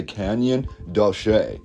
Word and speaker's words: Canyon de Chelly: According to the pronunciation, it's known as the Canyon De Chelly, although it is spelled a lot differently.